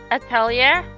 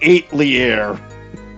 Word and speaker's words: atelier: Atelier. I was going to say eight leair, but at leier makes slightly more sense.